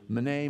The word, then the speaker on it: Mene: And it's these words that most people pronounce, meeny, meeny, tekel, upharsin. It's actually mene, mene, tekel, pharsin.